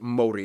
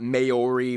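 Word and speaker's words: Māori: Korea and Japan yes by the way it's pronounced Mori not mayori Ma say that again what various countries like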